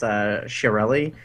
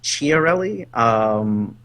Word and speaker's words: Chiarelli: For the longest time, I mispronounced Chiarelli as Chiarelli.